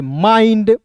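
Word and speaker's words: mind: तो इसका उच्चारण आइंड के रूप में करेंगे। माइंड क्या हो जाएगा?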